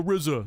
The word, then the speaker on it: RZA: Karinu says, "Is that how you pronounce Rizza?" I thought it was RZA. Well, because he in the songs he goes the Rizza.